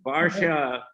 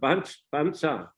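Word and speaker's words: वर्षा: The Sanskrit word is Barsha. Just like Barshana, Barsha. It's a rainy season. In a Bengali also, Barsha. It's a rainy. So, but Thais pronounce not Barsha, but Bansa.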